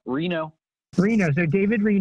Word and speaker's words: Reno: say your last name just like the city and Nevada Reno Reno's there David Lee you know and tell us about who you are and what you do sure so David Reno I work at Southwest